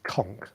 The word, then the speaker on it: conch: So the correct pronunciation is conch.